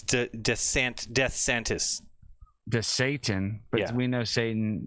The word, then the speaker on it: DeSantis: You didn't say his name right. It's DeSantis.